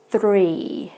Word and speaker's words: three: of the vowel so with the first one we said free the second one we say three so you can tell that my tongue rolls a little bit for the number three and an example sentence